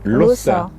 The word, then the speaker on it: Lossa: Et d'ailleurs, tu dis Lossa. Ben oui, puisqu'on ne prononce pas comme en français.